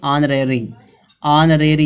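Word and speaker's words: honorary: आगे दिया इसी तरह से ऑनरेरी। यहाँ पे जो यच का उच्चारण हाँ नहीं निकल रहा, क्या निकल रहा है? यहाँ पे बड़ा आ निकल रहा है, ऑनरेरी।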